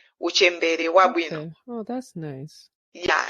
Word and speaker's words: Uchembere Wabwino: It's Uchembere Wabwino. Uchembere Wabwino.